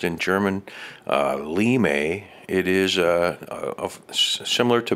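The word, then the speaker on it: Linde: a lem limewood as that said there is pronounced in german limey it is a similar to basswood it's the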